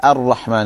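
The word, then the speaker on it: الرحمن: When we say the Rahma, we say it with a full mouth, isn't it? We say Rahma like that. But your mouth taking that shape, it should only happen with the Ra. You shouldn't start with the Hamza.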